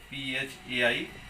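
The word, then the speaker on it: phi: ये 5 पढ़ते हैं इसको, ओके, PHAI, 5 इसका प्रोनाउंसिएशन है।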